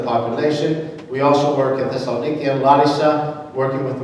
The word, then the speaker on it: Thessaloniki: 1st and 2nd Thessalonians, but we call it Thessaloniki. That's the proper way of pronouncing it.